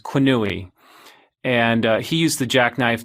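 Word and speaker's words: Quenouille: was by the statistician i'm going to butcher his name but i think it's pronounced qunui and he used the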